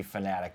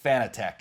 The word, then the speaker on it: Fanatec: years ago and if you're wondering what the pronunciation is it's supposed to be fanatic but you know what I think the majority of people say fitech and I've and you you've corrected me a